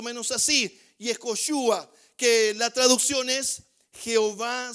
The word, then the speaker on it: Yehoshua: en su forma amplia, y se escribe, se pronuncia más o menos así: Yehoshua, que la traducción es Jehová salva.